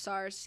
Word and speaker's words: SARS: we want to talk about SS or otherwi pronounced SARS can you tell us the history of SARS